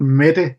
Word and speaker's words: Mette: So I've really listened a lot to a Norwegian saxophone player called Mette Henriette.